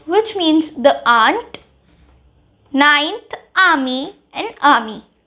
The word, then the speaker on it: ami: Ninth, ami and ami. Ninth and tenth pronunciation is similar. So, ninth, ami, which means your male friend.